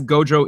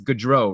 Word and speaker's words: Gaudreau: reddit so I guess Gaudreau isn't how you say it it's good row right yeah let's go